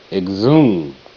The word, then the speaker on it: exhume: I, g, egg, z, e, zib, zib, it, egg, zib, it, exhibit, exhibit. H is silent.